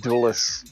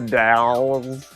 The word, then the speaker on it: Dells: Dows but not the dulus it's it sort of looked like it was spelled the same way like Washington duus airport but it's it's the Dows the Dells and the Wisconsin has the Dells yeah yeah the uh